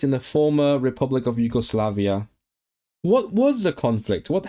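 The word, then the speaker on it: Iwgoslafia: Yugoslavia.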